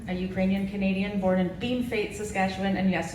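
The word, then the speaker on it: Bienfait: is robin rowhatton a ukrainian canadian born in bean fate saskatchewan and yes it's pronounced bean fate even though it's spelled bienvey i was raised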